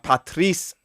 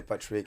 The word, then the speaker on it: Patrice: And today we got a special podcast with Tommy and Patrice. Evra. Finally, someone said it right. because they always say Patrick and you say Patrice, man.